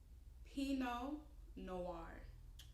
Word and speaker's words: Pinot Noir: Pinot Noir.